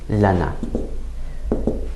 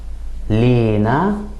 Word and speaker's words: لنا: For example, in Egyptian, we tend to put some stress on the first syllable and add kind of an E sound, so it would sound more like Lina.